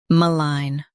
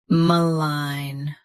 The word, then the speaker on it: malign: Malign. Both US and UK have the same pronunciation of this word. Stress line. Keep ma soft and quick. Malign. Malign. Stress line. Keep ma soft and quick.